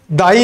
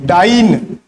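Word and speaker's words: dyne: Newton का एक चेला था उसका नाम था डाइन, क्या नाम था डाई नहीं डाइन, स्पेलिंग याद रखो क्या होता है डाइन ठीक है।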